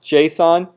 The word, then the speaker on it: Gson: but it's it's pronounced Json because G's are pronounced like Jeff uh so uh no